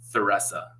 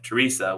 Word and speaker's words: Theresa: From what I've been told and from what I understand, the Germans came here, and with their accent, they started pronunciating it Theresa. But there's like 3 different pronunciations. We have Theresa, which is probably how it should be pronounced, Theresa and Theresa.